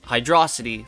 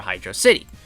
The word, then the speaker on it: Hydrocity: 50.5% to 49.5% said that it was Hydrocity, like velocity, over Hydrocity.